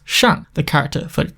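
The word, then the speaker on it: 下: looks like this pronounced shan the character for it down looks like this pronounced sha type three compound ideograms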